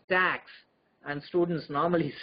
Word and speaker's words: TACS: collisions and spectroscopy so it is abbreviated as tacs for theory of atomic collisions and spectroscopy but it rhymes as tax and students normally say